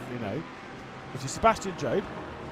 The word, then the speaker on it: Job: Because obviously it's just J-O-B, and so a lot of people are just like, well, surely it's Sebastian Job. You're saying his name wrong, Sebastian Job. I'm like, he says Sebastian Job.